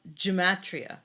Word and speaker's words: gematria: about they do with the bible yeah um gematria i think is how you pronounce it g-e-m-a-t-r-i-a um it says each hebrew